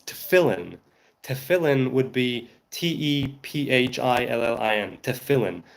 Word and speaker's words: tefillin: I assume it's spelled tefillin. No, it's tefillin.